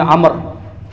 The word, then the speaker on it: Amr: Nah, ini Amr bukan Umar. W ada wunya. Jadi bacanya Amr bukan Umar ya.